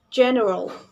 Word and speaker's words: general: It is pronounced general. This word has the main stress at the beginning of this word, or it calls primary stress.